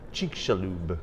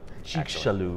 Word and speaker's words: Chicxulub: Chicxulub. It's not an easy word. I'll probably mess it up. It's a Mayan word, and so it's the X is a Z. Chicxulub.